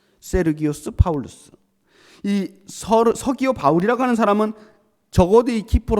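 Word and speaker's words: Sergius Paulus: 했던 겁니다 서기호 바울 서기호 바울은 헬라어로 제대로 발음을 해서 읽으면 세르기우스 바울루스에요 세르기우스 파울루스 이어 바울이라고 하는 사람은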